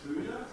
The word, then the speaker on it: HUDA: I now know that the acronym is pronounced HUDA.